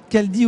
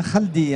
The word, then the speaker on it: Khaldi: Enfin, le nom de famille est Khaldi ou bien Khaldi, hein, à prononcer K-H-A-L-D-I.